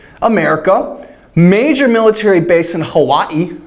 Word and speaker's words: Hawaii: major military base in Hawaii right or Hai if you're a snob and want to pronounce it the right way so China has um